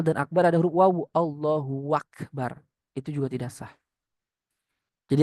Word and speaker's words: Allahu Akbar: Contohnya arrahmanu akbar atau dibalik akbaru Allah atau barnya panjang Allahu Akbar enggak sah. Atau a-nya panjang Allahu Akbar enggak sah. Atau antara Allah dan akbar ada huruf wau Allahu Akbar itu juga tidak sah.